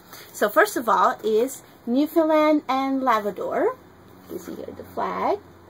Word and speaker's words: Newfoundland and Labrador: So how do you pronounce it? Newfoundland and Labrador. How do you say it slowly? Newfoundland and Labrador.